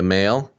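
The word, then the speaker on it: Male: Victoria Mail, that's funny. It's funny that the doctor's name is Dr. Mail, a reproductive immunologist from Imperial College London. Spelled like M-A-L-E. M-A-L-E, yeah.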